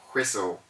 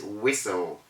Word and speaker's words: whistle: a matter of rule we have whistle a lot of people say whistle it is wrong to say whistle or crystalline the word is whistle and then we have